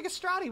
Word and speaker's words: castrati: Oh, hit me with a castrati. We never hit that. Rhymes with pastrami.